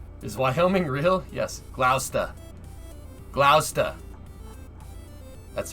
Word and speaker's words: Gloucester: great plains somewhere is wyoming real yes gloucester gloucester that's how you say we say we would